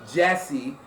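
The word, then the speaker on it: Djesse: Then after that, he released Jesse, and he actually spells it D, and then Jesse, but the D is silent.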